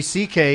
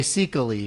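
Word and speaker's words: Székely: Louis C.K. is just how his last name is pronounced. Yeah. Really? Because it's spelled Yeah. S-E-K-E-L-Y. It's like Yeah, crazy. any new really? comedians Yeah, if could people, never if you look enter- at it, you'd say Seekely or something like Is he that.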